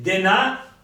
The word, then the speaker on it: Denâ: A Imperia, nell'imperiese, dice denà, e qui parla di Natale, dies Natale, che tu non l'hai sentito, lei non l'ha sentito.